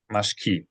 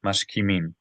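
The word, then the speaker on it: משכימים: mashkamim, What vowel was under the kaf? mashkamim, Mashkimim.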